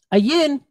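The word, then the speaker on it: ע: So Ayin, it's a silent letter just like Aleph. Okay, so. It's going to take on whatever nikud or whatever vowel point is attached to it.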